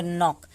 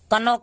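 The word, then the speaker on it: knock: एन के पहले के आए तो यहाँ पे भी के साइलेंट होता है, क्योंकि इसको हम पढ़ेंगे नॉक, कनॉक नहीं पढ़ेंगे, ठीक है।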